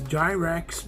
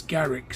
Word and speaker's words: Garex: I did say his name is Gyrax because I thought that was the actual correct pronunciation. But in fact, it is not. It is garex.